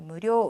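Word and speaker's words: むりょう: 료가 대신에 조금 길어요. 자, 무료 의식적으로 이런 장음 발음을 여러분께서 해 주셔야지만 일본 사람이 잘 알아들을 수 있거든요. 그러니까 무료 길게 발음을 해 주시면 됩니다.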